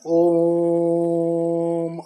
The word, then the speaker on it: ओम: ओम का लंबा उच्चारण ओम आ उ मा ये तीनों से ओम का शब्द बना है। आ से होता है सृष्टिक्ता, उ से होता है अह पालनकर्ता और म से होता है संहारकर्ता। तो अ उ मा इसका तीनों का लंबा उच्चारण करना है दोस्तों और शीतली